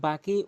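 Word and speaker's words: باء: বা হরফটি দুই ঠোঁট মিলিয়ে এভাবে উচ্চারণ করবেন, বা বা বা।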